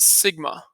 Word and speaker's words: sigma: This Greek symbol is pronounced sigma.